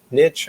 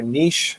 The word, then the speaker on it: niche: known for your hearing niche or niche depending on where you are how you pronounce that of doing a certain